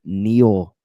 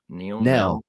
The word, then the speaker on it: Nell: Kay, I got the Neil. I keep saying that cat's name wrong. Nell.